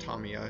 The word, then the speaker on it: Tamiya: this is black i believe i'm using some tamiya yes it's pronounced tamiya if you call them and ask them that's